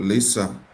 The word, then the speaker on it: LISA: And so we decided to start something that is called LISA at the time, and later LISA Africa, because the intent is not only for Liberia but Africa. So it's pronounced Lisa. I call it Lesat.